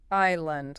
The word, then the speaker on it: island: Yeah, that S right there after the I. Yeah, your instinct screams Sandland or something like that. Nope. That S is another silent one. The pronunciation is just island. Island. Like your I then lend. No s sound at all.